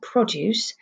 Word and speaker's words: produce: in the gross's shop you hear the emphasis is on the first syllable produce well produce is things